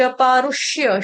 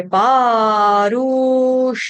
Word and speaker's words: पारुष्य: और साथ ही में रू कौन सा है रुमाल वाला इसको लंबा नहीं खींचेंगे बारूश ऐसा गलत उच्चारण हो जाएगा रु रुमाल वाला है रु रुक वाला है रुमाल रुक रूप वाला नहीं है।